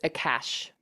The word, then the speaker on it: Akashic: So it's Akashic records, like Akasha. cash, Yeah. like money, Akasha.